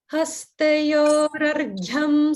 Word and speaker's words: Hastayor Arghyam: So if you're combining it like that, you don't want any pause. So there's no pause between hastayor and argyam. It would be together.